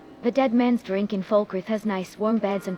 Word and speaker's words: Falkreath: That's hot, oh my, now it's Falkreath. Your pronunciation needs even more work than I thought. It's Falkreath, my dear student.